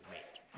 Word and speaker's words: N8: Yes, but it's pronounced the same. So there are 2 people who pronounce their first names as Nate.